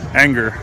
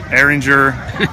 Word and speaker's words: Ehinger: Now, the correct pronunciation of your name, anger. Anger. Like, just like Yeah. Just like E N G E R. Okay. What is the worst pronunciation you? Uh, Aringer. E-hiner.